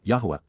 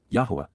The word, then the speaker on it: Yahweh: blessings are reciprocated by the association with death Yahweh Yahweh the proper pronunciation of the name of eloah God as